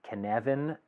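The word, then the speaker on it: Cynefin: making framework and if you're wondering why I'm pronouncing it can even with the spelling on the slide here it's because kevin is a welsh word it means habitat or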